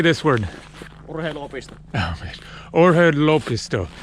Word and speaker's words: Urheiluopisto: So you have to cut the words a little bit into pieces how you pronounce it.